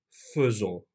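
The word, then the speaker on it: faisons: ekliyoruz Yalnız burası önemli elde ettiğimiz çekim nuon olarak okunuyor burada bir istisna söz konusu nuz kesinlikle demiyoruz nu fzo nu fon bir ö sesi çıkarttık vya geçtiğimizde apayrı bir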